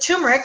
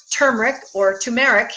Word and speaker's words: turmeric: But with turmeric, or turmeric, depending on how you want to pronounce it, there's one way to use this oil that I found.